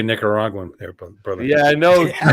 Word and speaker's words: Nicaraguan: watched how you say Nicaraguan there brother yeah I know I did I did watch How I said and I never even thought word there's no G in the first syllable of that word that's correct I believe